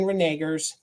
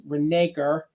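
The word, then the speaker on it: Hagen-Renaker: Pottery these are Hagen renegers I always say it wrong it's renaker Hagen renaker and it'll be on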